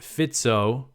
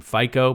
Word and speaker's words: Fico: this was big news on Wednesday uh Robert fito his name is spelled f I've I've talked about him before and I pronounced his name FICO but I actually had a listener who I